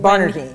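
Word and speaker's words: Barnardine: Is that how you pronounce it? It Where, is. Bernardine, yes.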